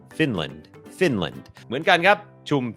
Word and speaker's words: Finland: คอร์ส ฝึก ออก เสียง ฟินแลนด์ อ่าน ว่า finland finland โอเค อัน นี้ บ่ง บอก ว่า จำ ได้ ม อัน นี้ ก็ เน้น พยางค ขึ้น สูง Fin Fin Fin พยางค ไม่ เน้น L finland finland เหมือน กัน ครับ